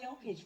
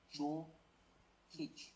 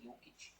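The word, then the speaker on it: Jokić: I mean, in the chat, it's like Joe Kic, but you say yo when you're pronouncing like the Slavic languages, like Croatian, Serbian, all that stuff. You say Jokic, Nikola Jokic.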